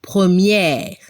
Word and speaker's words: première: Abremos la boca para pronunciar al femenino, première.